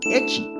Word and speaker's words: ecchi: refiere a ello como echi Este término se utiliza para frases que tengan que ver con viene de la pronunciación de la primera letra de Hentai H que en este contexto